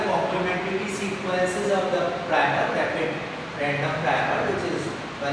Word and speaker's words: RAPD: It should be pronounced as rapid randomly amplified polymorphic DNA, and this technique is developed by William et al.